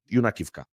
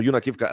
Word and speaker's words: Yunakivka: Village Yunakivka, or Yunakivka as the locals say in the Sumy region.